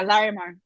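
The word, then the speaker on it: Llarimar: like uh larry mark is that how you pronounce it yeah laramar i really like him too and i ended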